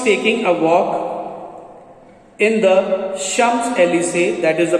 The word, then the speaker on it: Champs-Élysées: One Sunday, as she was taking a walk in the Champs-Élysées, that is the pronunciation, to rid herself of the cares of the week, she suddenly perceived a woman walking with a child.